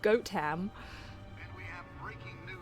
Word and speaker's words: Gotham: Keep those front doors locked It's and pronounced goat ham.